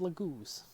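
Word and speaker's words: Laguz: and the Dragon Tribe, traditionally called Lagoos. That is the Radiant Dawn pronunciation, so you'll have to excuse me if it's been changed, but I'm going to call them Lagoos for the time being.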